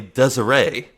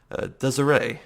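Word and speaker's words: Desirée: name it's it's apparently Desiree the S is more of a Z sound but otherwise I got pretty well Desiree yeah you see me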